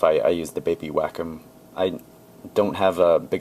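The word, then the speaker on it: Wacom: I think it's pronounced whackom.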